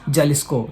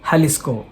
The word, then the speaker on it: Jalisco: only speaks Spanish espanel in Spanish language you should pronounce j as ha example there is a state called as j a l i s c we tend to call it as Jalisco no it is halisco